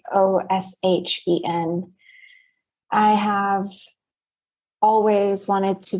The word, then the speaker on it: ōSHen: So basically, I am the founder of a company named ōSHen, and it's spelled like the phonetics of ocean. So it's ōSHen.